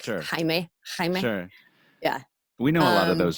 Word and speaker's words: Jaime: Instagram, Jaime Wyatt is spelled like weird though. It's like Jaime Wyatt, like Wyatt Earp, like Sure. Jaime.